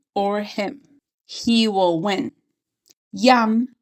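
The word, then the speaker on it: ים: Yam means sea in Hebrew. but it sounds like yum.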